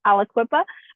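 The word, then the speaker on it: Aliquippa: going to butcher it so I'm just letting you know it's Alaqua um I happen to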